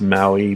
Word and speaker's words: ma8ui: from a fella in the I think he his name should be pronounced Maui but it's ma a 8 UI I'll there's links in